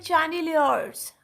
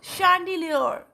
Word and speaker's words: chandelier: आपके सामने, CHANDELIERS, right, इसको बास लोग इसको प्रोनाउंस करते हैं चैंडिलियर्स, राइट, वो भी ठीक है, बट इसकी जो एक्चुअल प्रोनाउंसिएशन है that is शैंडिलियर, that is शैंडिलियर, right.